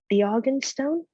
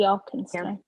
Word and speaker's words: Arkenstone: Now we didn't see what's inside, but my best guess could be the Argenstone. Is that how you say it? The Arkenstone.